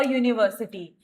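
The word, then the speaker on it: university: अब यूनिवर्सिटी में यहाँ पे यू है, लेकिन हम जब साउंड पे जाते हैं तो यू यानी कि ये वाई यू वाली साउंड आती है, तो हम यहाँ पे ए का यूज करते हैं।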